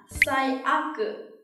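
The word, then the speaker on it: 最悪: Bản thân cái từ aku này khi đứng một mình được đọc là warui, đúng không nào? Và trong trường hợp này khi ghép một dự án khác thì nó được đọc là aku.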